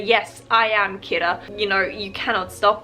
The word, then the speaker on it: Kira: this person a name which is kira derived from the english word killer but japanese pronunciation kira people are starting to